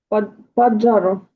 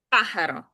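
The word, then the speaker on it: pájaro: Паджаро. А джі нема. Так. Паджаро. Пахаро. Е, в деяких латино-американських діалектах вона читається як дж. Але в іспанській ні. В іспанській це завжди х. Пахаро.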